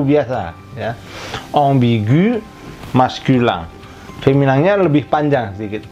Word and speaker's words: ambigu: Nah, ini bacanya di bahasa Prancis adalah ambigu, ambigu. AM itu bunyinya sama dengan AN, ong ke bawah, ya, gentong gitu, bolong, ya, tolong tuh, ong, bi, gu.